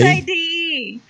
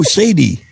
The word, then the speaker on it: Sade: S-A-D-E. Oh, Sadie. No, it's not Sadie. It's Sade.